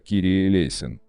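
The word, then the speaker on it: Κύριε ἐλέησον: 496 молитва Господи помилуй на греческом языке произносится как Кири элейн ранее все богослужения проходили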